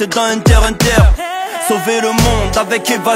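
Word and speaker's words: Hunter × Hunter: le cœur quand je te dis qu'on ne prononce pas le X dans Hunter Hunter sauver le monde avec Eva 01 ou faire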